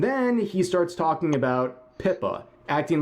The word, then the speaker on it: Pippa: And then he starts talking about Pippa, acting like he has no idea who she is, and does another classic Hasan move, getting her name intentionally wrong, calling her Pippin Picka. Because apparently mispronouncing people's names on purpose is a way